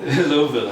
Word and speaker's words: Louisville: Louisville. Two syllables you drop in the back of your throat.